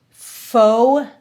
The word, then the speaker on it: pho: For instance, pho, which is how you pronounce that, might sound very similar to pho, which is pot au feu.